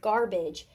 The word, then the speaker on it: garbage: So that's exactly what's happening here with garbage. This chunk right here, this final stable syllable, idge, it sounds like the I sound, the schwa sound, but it's really A-G-E.